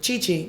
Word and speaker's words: Che Che: So So how you said you're supposed to pronounce be pronounced which way? Chi-chi.